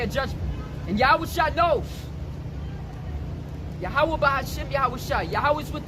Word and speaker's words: YAHAWAH: The letter Y is not the same pronunciation as English. It's Yah.